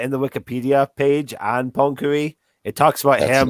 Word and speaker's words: Poincaré: Can we call him Poincaré? Because that is how you pronounce that.